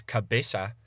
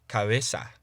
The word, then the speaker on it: cabeza: So, in between vowels, a soft B would be pronounced by putting your lips as close together as you can without actually touching them. So rather than pronouncing the word for head as cabeza, you'd pronounce it as cabeza.